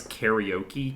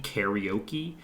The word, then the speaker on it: karaoke: it's pronounced cuz like Americans pronounce things weird. Like they pronounce karaoke karaoke instead of karaoke, which is like It's not that hard to pronounce uh Japanese words.